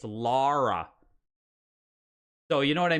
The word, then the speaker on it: Lara: that was weird it it's pronounced like that I just put it in the chat L A R A it's laa so you know what